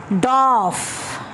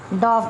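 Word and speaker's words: dwarf: Next one is doff. This is doff. R is silent here.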